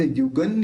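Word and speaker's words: युगं: तो सम्यक प्रणम्य जिनपाद युगन युगादा। अब यहाँ पे जो बिंदी है उसके बाद य है, तो यह बोलते समय दोनों होठ मिलेंगे नहीं, नहीं मिलेंगे तो उसका उच्चारण क्या निकलेगा? न निकलेगा। तो युगन युगादा, ये उसका प्रोनाउंस निकलेगा।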